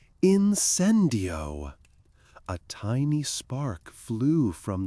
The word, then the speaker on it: incendio: He showed them the wand movement, a sharp downward flick with a wrist turn and the correct pronunciation incendio with accent on the second syllable.